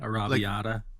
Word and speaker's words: arrabbiata: Um, like an Ariata or Ariabata. I forget how to Oh, yeah, pronounce the it. Like, spicy, like, tomato mm-hmm. sauce, yeah, Like arrabbiata.